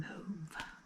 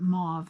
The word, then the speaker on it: mauve: I've always called it mauve my whole life. And then not too long ago, I heard somebody call it mauve, which is probably British, how they say it in the UK.